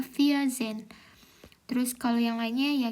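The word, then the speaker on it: vierzehn: Angka 14 yaitu dibacanya via Zen. Jadi kalau angkanya belasan itu nyebutnya dulu empat dulu kan empat kan via ya via. Terus eh Zen kan 10. Jadi 14 itu bacanya via Zen.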